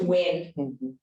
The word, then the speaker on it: Nguyen: I think that last name might be pronounced Win.